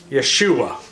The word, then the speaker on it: Yeshua: perod Joshua Joshua J how do you say Joshua in Hebrew Yeshua close to you which